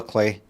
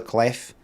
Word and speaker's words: Clef: Solar Clay. And what's with the F then? No pronouncing the F, so it's no Solar Clef.